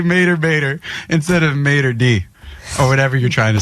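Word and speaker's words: maître d': Well, you're like El Mater D. I mean, you sound like you're from Alabama. Jesus. I was going to cancel that word. Mater d. That's how you say it.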